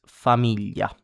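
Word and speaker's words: famiglia: An example in Italian is familia. Familia. Try and pronounce it as many times as you can.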